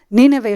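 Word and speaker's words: Ninive: Das ist eigentlich, ich liebe Deutsch, ihr habt das korrekte Aussprache von diesen Worten. Nineveh ist genau korrekt, so sprechen wir es Nineveh aus.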